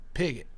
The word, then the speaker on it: Piggott: You know how to pronounce it? Piggott.